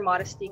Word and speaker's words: Modeste: juxtaposition of that and modesty has its own story in itself because when I was younger people pronounce my last name is modest and pissed me off because